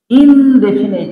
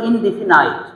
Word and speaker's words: indefinite: শিক্ষার্থী বন্ধুরা, আমরা যে প্রোনাউনটা নিয়ে আলোচনা করব, ইনডেফিনিট প্রোনাউন। এই উচ্চারণটা অনেকে কিন্তু ভুল বলে। ছোটবেলা থেকে আপনারা সঠিক কেমন জানেন কিনা আমি জানি না, বেশিরভাগ মানুষই বলে ইনডেফিনাইট।